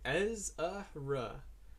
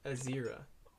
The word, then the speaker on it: Ezra: Wait, Ezra, not Azira. Ezra. Oh, okay, my bad. I didn't realize I was saying it wrong.